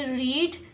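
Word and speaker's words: read: पढ़ना यानी रीड। तो हम यहां पर थर्ड फॉर्म यूज़ करेंगे। रेड। I shall have रेड the book. रीड रेड रेड। Spelling वही होती है। सिर्फ प्रोनाउंसिएशन इसकी अलग होती है।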